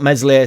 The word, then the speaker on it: Meslier: not um I thought meslier silent s was excellent uh We've